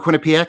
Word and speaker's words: Quinnipiac: Quinnipiac? I almost took it out of the bio just because I can't pronounce it. Or Quinnipiac. I think either one is acceptable.